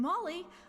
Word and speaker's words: Molly: And I'm Molly. Ooh, we're good. Wait, that's how it's pronounced? Because it's Maul as in being mauled, but Molly because happier, so yeah.